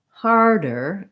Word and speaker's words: harder: in both of these harder and starter again i recommend rather than thinking hard er think about har being long and then your dirt is just a short little light add-on har harder star starter